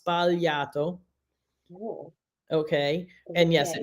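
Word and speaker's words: sbagliato: mistakes so it's valiato so you don't pronounce the G it's spaliato cool okay and yes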